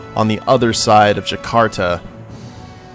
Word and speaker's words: Jakarta: near Caesar Augusta and Jakarta, not Jaktara. I don't know why I was calling it Jaktara. That's a cool name, but someone let me know that I was pronouncing it wrong, and I do appreciate that.